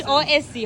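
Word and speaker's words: José: J is like pronounced like H. You know, Jos is Jose. Jos. Jose is Hose.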